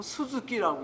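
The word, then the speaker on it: 鈴木: 요거 방울영자에다가 나무 목자를 쓰면 스즈키라고 읽어요.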